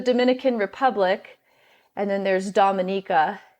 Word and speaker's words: Dominica: Republic and then there's Dominica commonly people mispronounce it but it's Dominica should be called The